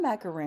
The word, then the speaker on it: macaroon: I'm saying, but it's not a macaroon.